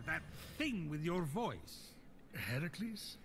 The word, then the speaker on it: Heracles: thing with your voice heracles yeah that that is how it's supposed to be pronounced we can move stuff